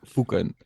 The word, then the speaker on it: Foeken: Foken.